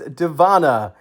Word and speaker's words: Dziewanna: It is Deanna. Yes, I know that's a lot of letters there, but that is how that is pronounced.